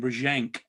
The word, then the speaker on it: Brzezinski: I think they asked the same question of John, because obviously it's Polish name, Brzezinski, as it's pronounced in Polish.